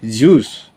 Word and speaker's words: Zeus: magkaiba yung Zeus actually yung Zeus pag pino-pronounce juice. Okay? So the same as juice okay dios or delta